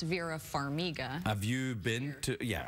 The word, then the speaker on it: Farmiga: So, Farmiga, that's Italian. Farmiga. Farmiga. It's Ukrainian. Ukrainian? Well, I'm Ukrainian of heritage, but it does sound Italian. It does sound Italian, Farmiga, but it's not Farmiga, it's Farmiga.